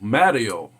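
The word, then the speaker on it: 마더: Mother, that is pronounced also Mario in Korean.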